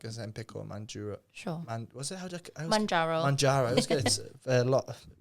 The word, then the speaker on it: Mounjaro: Mounjaro. Mounjaro. I was going to pronounce it wrong.